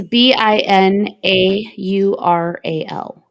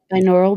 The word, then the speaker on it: binaural: binaural I don't B neural how do you spell it yall haven't heard of those uhuh it's b i n a u r a l binaural beats oh I got you binaural binaural yeah